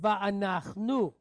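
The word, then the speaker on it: וַאֲנַחְנוּ: So we have va'anach nu. Right? Va'anach nu.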